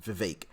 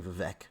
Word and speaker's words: Vivek: think it's Vivek this is how you actually pronounce it Vivek I gotta remember that because I'm always saying vivec but anyway you guys know who I'm speaking